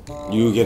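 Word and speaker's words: 夕げ: これで夕げって読むの。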